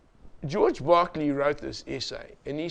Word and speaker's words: Berkeley: by the name of George Barkley b e r k l e y you will pronounce him Berkeley you are wrong it's Barkley George Barkley wrote an essay